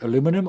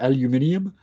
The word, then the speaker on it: aluminium: particular rock is what well depends how you want to pronounce it aluminum or aluminium yes this is aluminum